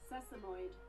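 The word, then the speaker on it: sesamoid: Um, a sesimoid. Sesimoid. Cool. I was saying it right.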